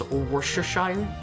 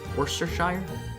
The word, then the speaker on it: Worcestershire: Can you pronounce Worcestershire? That's how you say it, right? Worcestershire?